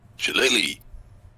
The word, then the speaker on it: shillelagh: Shillelagh.